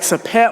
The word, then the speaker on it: Sopheak: cousin, Sapani, SOPHANNY, and my best friend, Sapik, SOPHEAK, but it's pronounced more like Sapet.